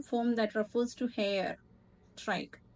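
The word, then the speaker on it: trich: that refers to hair trike we'll pronounce it as trike there a type of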